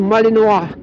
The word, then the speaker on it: Malinois: O, ang tamang pronunciation, Malinois.